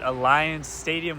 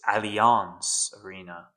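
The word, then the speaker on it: Allianz Arena: We have arrived at Alliance Stadium which is the home of FC Bayern. Even the double take couldn't prevent me from mispronouncing this arena's name. It's Alons Arena.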